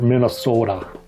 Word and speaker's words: Minnesota: from the Minnesota library that's how they say it there Minnesota apologies still my Minnesota